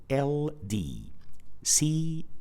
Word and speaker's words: could: So as you could see, the combination of letters O-U, just like in this word, is pronounced with the short vowel sound O. So we pronounce this word as could, not could.